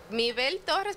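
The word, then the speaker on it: Mibelle Torres: Mi Bel Torres, pero se escribe mi Belle Torres.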